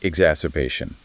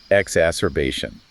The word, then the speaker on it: exacerbation: So acute exacerbation. And that is pronounced acute exacerbation. Acute exacerbation.